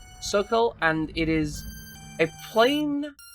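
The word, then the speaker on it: socle: Sockle? Sockle? Sock? What is that word? Soleil? I'm gonna look up this word. What is it? Okay, so it seems to be pronounced Sokol, and it is a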